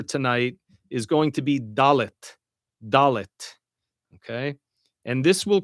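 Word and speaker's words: דלת: And now our final letter for tonight is going to be dallet.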